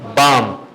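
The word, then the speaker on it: balm: खा मीस पु सुकून बाम बालम नहीं पढ़ेंगे बाम बाम क्या होता है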